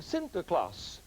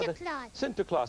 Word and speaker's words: Sinterklaas: Nicholas was called a Sinterklaas because that's how Sinterklaas that's how the Dutch pronounce st. Nicholas and then he came